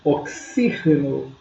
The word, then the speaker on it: oxígeno: Em português oxigênio, Em espanhol, oxígeno. Olha a diferença. A escrita quase que é idêntica, com exceção do acento, mas a pronúncia é diferente.